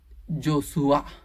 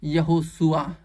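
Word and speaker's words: ישוע: और इब्रानी भाषा में उसको बोलते हैं जोशुआ या फिर यशुआ ऐसे बोलते हैं यानी प्रोनाउंस जो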